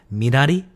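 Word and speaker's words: 미나리: I believe in Korean it's pronounced Minari.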